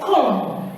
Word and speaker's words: comb: This one, very many people say comb, but the word is not supposed to be pronounced as comb. You don't pronounce this. You don't pronounce the B, the sound.